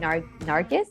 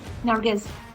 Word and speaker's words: Nargis: Exactly as Michael had said, we are following the story again of Samir and Nargis. Do I say Nargis or Nargi? Like is the S pronounced? Nargis. Nargis.